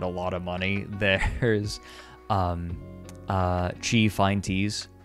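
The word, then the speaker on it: Qi: And yeah, chi, like, Q-I is pronounced chi.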